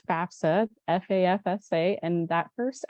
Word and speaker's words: FAFSA: is the FAFSA um everybody always mispronounces the the acronym here and so it is FAFSA FAFSA and that first F